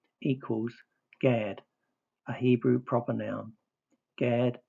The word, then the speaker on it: Gad: H1410 Gimmel Darot pronounced with the vow A as in father equals Gad, a Hebrew proper noun.